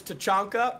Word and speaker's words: Tachanka: So it's Tachanka, and he's the worst operator in the game.